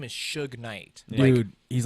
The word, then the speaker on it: Suge: there's an e yeah it's pronounced sugar then they had an